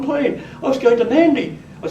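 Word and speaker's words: Nadi: In the Fijian Islands, the airport that I've gone into always is Nandi, and the Melanesian natives, the natives of the west of the Pacific, they nasalise D's and G's.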